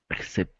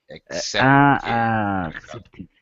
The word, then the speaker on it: accepted: Accepted. Accepted. Yes. Accepted. You hear both the K sound and the S sound that C can Okay.